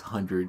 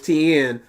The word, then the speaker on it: Tien: I just want to see his 100 witch. And Ten agrees. He couldn't hope to have faced Frieza before. It's not 10, it's Tien. Maybe in Japanese it's 10.